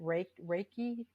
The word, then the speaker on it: Reiki: sure I'm pronouncing it correctly, but is it Reiki training? And so I want to explore that just Reiki, yes.